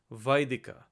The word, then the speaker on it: Vedika: the Sun script transliteration it's actually the proper pronunciation of the term that we often say Vedic likes in Vedic literature it's actually pronounced as Vedika a Vedika anything that's